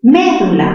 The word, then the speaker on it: médula: Médula, mayor fuerza en me, palabra esdrújula, la tildamos. Pero también se puede pronunciar medula, aunque les parezca raro, chicos, también es válido. Medula, palabra grave terminada en vocal, no se tilda.